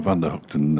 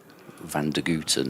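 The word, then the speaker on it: van der Gugten: Beautiful work on the Vander Hooton uh pronunciation by the way. I don't know. It's just what I've like for a bit. I like it. Van Guten is it's sometimes said.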